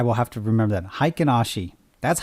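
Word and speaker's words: Heikin-Ashi: how to say there we go how to pronounce this hi kanashii okay there i will have to remember that haikinashi that's how i say these candles look these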